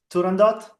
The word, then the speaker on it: Turandot: Or sorry, I'm sure I'm butchered the pronunciation. How do we say this? Weiwei, Turandot.